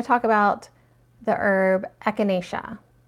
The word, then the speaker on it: echinacea: talk about the herb echinacea or some people like to like put more syllables into it echinacea like whatever echinacea also called coneflower there's